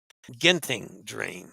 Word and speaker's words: Genting Dream: I think that's properly pronounced Genting Dream, if I remember from Dennis's lessons.